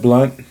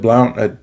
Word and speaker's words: Blount: it's written by Jeb blunt uh Jeb Blount Jeb blunt I think is how you pronounce his name b-l-o-u-n-t um I've read a